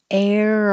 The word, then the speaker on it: err: the new information is the quantity that's changing the 13 14 not the team err on the side of caution air on the side caution so we don't have